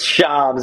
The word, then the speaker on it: Shams: And is your name Shams? Have we been saying it wrong this entire time? Nah, it's Shams.